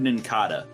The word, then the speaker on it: Nincada: wasn't in kata like it's based on a cicada the cicada yeah yeah